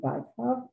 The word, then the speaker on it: Bykov: First of all, dear friends, I must say that the correct pronunciation, I'm sorry, is Bykov, because Dmitry Bykov is a very well-known dictator.